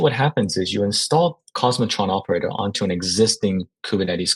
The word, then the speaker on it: k0smotron: out called cos Metron it's spelled kzer matron but we call it cosmotron and utilizing cluster API